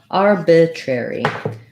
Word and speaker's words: arbitrary: so many r's here we have first syllable stress so the arb syllable is stressed letters are in the beginning say are like the r vowel and arb can be in the first syllable or you can start with r b with b in the second syllable let's write it that way to make it a little easier our bit this is the lax if foul like in bit arbitrary tree we do